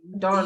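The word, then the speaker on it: Dawne: Dawn. D A W N E. Although it's it has a E, but it's pronounced D. Dawn. Like the morning dawn.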